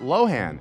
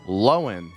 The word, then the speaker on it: Lohan: lohan in shock we've all been pronouncing her name wrong all these years apparently it's not lohan it's lowen fun fact we do share the same birthday